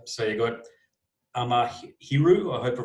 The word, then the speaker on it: Amahiru: So you got Amahiru. I hope I pronounced the band correctly. Yeah, Amahiru.